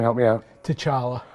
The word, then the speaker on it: T'Challa: I cannot pronounce that first name. Help me out. T'Challa. T'Challa, and how is he involved in this universe, in the Marvel universe?